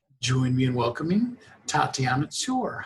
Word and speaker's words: Tsoir: actually wasn't that bad it's actually soy Sawyer so the tea is sort of Silent okay all right well